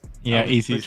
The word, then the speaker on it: EC's: EC's, that's how you say it. EC's.